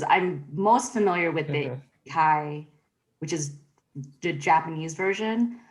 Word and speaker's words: Isekai: They've been reading a lot of the correct pronunciation because I don't have the word in front of me, but the Ikasides. What is it? Yeah. Isekai, thank you. Yeah. They've been reading a lot of the Isekai fiction in general, so they were super excited